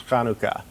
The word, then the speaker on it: Hanukkah: getting their mouth around the pronunciation is kanuka right with a kind of a guttural CH it's not a CH like church but it's it's not a soft H though for Hanukkah a